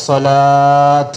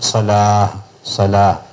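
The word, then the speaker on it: صلاة: നമ്മൾ പറഞ്ഞിട്ടുണ്ട് ഹയ്യ അല സ്വലാത്ത് എന്ന് പറയാൻ പാടില്ല ഹയ്യ അലസ്വലാ എന്നാണ് പറയാൻ പാടില്ല അതായത് താ മർബൂത്ത വഖഫ് ചെയ്യുന്നത് നിർത്തുന്നതിന്റെ ഉച്ചാരണം അഹ എന്നായിരിക്കും ഹാ ഹയ്യാല സ്വലാത്ത് എന്ന് പറയാൻ പാടില്ല സ്വലാഹ് ആ ഈ താക്ക് പുള്ളി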